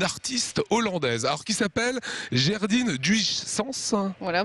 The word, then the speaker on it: Gerdine Duijsens: hollandaise, alors qui s'appelle Gerdine Duyssens. Voilà, vous le prononcez à peu près bien. Les Hollandais rectifieront, mais bon, pour nous, c'est Gerdine Duyssens.